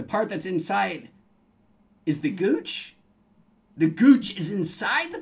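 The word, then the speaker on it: guiche: is that so and it's spelled like that GUI CH e the Gooch the part of the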